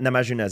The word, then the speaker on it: Namajunas: Rose Namajunas? How do you say her? Rose Namajunas, yeah.